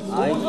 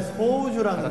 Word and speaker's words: 소우주: 소주 아닙니까? 소주. 너무 좋아요. 소주. 소주. 발음 조심해야 될 것 같아요. 소주. 이거 진짜 밤에 들어야 돼. 아, 진짜요. 정말 좋아하는 노래예요. 우리 빛나고 있네. 네, 소우주라는 곡입니다.